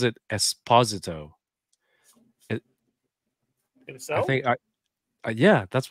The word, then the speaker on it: Esposito: And I've always been saying it Esposito, but he pronounces it Esposito. So? I think Yeah, that's what that like. I just assumed it was Esposito, and then yeah, and then I heard until